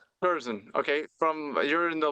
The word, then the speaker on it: Curzon: We've got Curzon, is that how I pronounce it? Curzon. yep. Curzon, yep. That's the one. Curzon, okay.